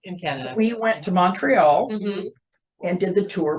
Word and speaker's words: Montreal: Is Montreal, the T is a silent, and then Quebec, and then Toronto, actually Rondo.